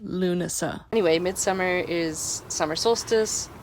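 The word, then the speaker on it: Lughnasadh: know how to pronounce this okay apparently it's pronounced lunasa anyway Midsummer is summer solstice lug NAD is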